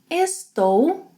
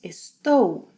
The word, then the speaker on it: estou: Eu estou, two sounds, estou. Estou.